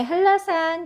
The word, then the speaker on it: 한라산: 자, 그 다음에 한라산 요것도 자, 니은이 리을로 변합니다. 한라산. 자, 우리가 글씨로 보니까 되게 어색한데요. 발음은 이렇게 하셔야 되는 거예요.